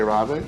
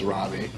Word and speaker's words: Rabe: It is now Rabe. So anyone who says Rabe, no, that's not the correct pronunciation.